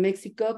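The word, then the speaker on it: México: The X in Spanish in Mexico can be pronounced as X, as J, like my name, Mexico, and also as sh, like in Uxmal.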